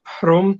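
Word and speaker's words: พรหม: news it is called the prom temple which is a local pronunciation of brahma and you have of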